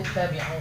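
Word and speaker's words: اتَّبِعُوا: Nggak boleh ibu baca tabi'u misalnya. Harus jadi i.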